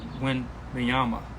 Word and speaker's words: Wembanyama: Rookie of the Year, the first pick, Victor Wembanyama, however you pronounce his name, sorry, no disrespect, but Victor, the first overall pick for San Antonio, Wembanyama, that's how you pronounce his name.